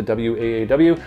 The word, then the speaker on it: Waaw: gonna do that but that is how you pronounce it as wow in Arabic the waaw from the house of